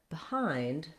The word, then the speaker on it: behind: So be is misleading in words like behind and between because we don't actually use that E vowel there. That's because in a word like behind, the stress is on hind, and so that BE gets a reduced vowel. In the dictionary, you'll see it as an I vowel.